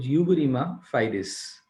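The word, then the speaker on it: uberrima fides: के बाद I have got द utmost good pronunciation of this particular word. It is called uberrima. It's called uberrima fidis.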